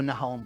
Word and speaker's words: Nahón: Nahón o Nahón, porque viste que a veces se pronuncia, a veces no.